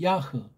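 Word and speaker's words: יה: 근본이다 이렇게 말하는 거 이게 이거는 예호바 발음하고 이거는 야라고 돼 있잖아요 모음 볼 붙인 발음을 전제할 때 야라고 해야 돼요 여호와가 아니에요 너희 남자 들이 팍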